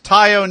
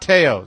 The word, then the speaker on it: Tayo: It's Tayo, not Tayo.